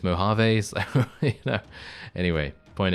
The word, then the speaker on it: Mojave: By the way, the reason I say Mojave is because of it's a joke reference. It's not actually me thinking that that's the correct way to say it. But thank you very much for letting me know. Anyway, I know it's Mojave.